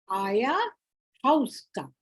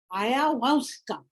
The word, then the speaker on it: Ayahuasca: So I have put for you this concoction, Aya, now how it is pronounced, Ayahuasca. Ayahuasca. Okay? Ayahuasca.